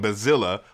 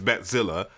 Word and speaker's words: Batzilla: That's from Bazilla, which people always say I say that wrong, but it's Batzilla. That's how the Germans pronounce it. I'm German, so I'm right.